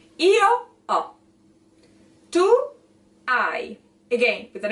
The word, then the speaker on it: hai: So even though you see it with an H, there's not pronunciation of an H. There's not aspiration of any kind of sound. Io ho. Tu hai.